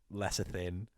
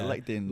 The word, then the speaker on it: lectin: For example, lesser thin. How do you pronounce lesser thin? Oh, yeah, lectin.